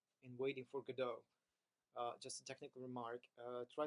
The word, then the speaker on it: Godot: lot and the second thing is when you pronounce it correctly Waiting for Godot it actually risen both I waited for God